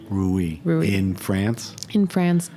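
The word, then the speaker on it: Reuilly: you look at a small little place called rui Ru makes a spell it R e u i l l y ruie Ru in France in France in the lir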